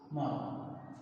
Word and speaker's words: মরণ: মরণ, মরণ। এখানে এই যে মূর্ধন্যটা ব্যবহার করা হয়েছে, এখানে আমরা এই মূর্ধন্য আর ব্যবহার করব না, অর্থাৎ উচ্চারণে কোনো মূর্ধন্যর ব্যবহার নেই, এখানে আমরা দন্ত ন ব্যবহার করব।